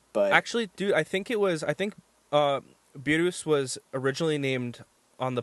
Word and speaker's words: Beerus: So the correct pronunciation for someone in America or in English would be Beerus, or if you want to be awesome and call it Birus or Birusu-sama, whatever works.